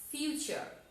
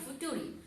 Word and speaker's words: future: ফিউচার tense, FUTURE, ফিউচার। এখানে কিন্তু বানানটা দেখো, একটু খেয়াল করো। নরমালি বানানটা করলে হবে এফ ইউ ফু টি ইউ টু আর ই ফুটুরি। নট, আমরা বানানটা এইভাবে করব না, আমরা বলবো ফিউচার।